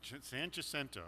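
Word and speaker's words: San Jacinto: of over at San how do you pronounce that college name San jento San jento all right let me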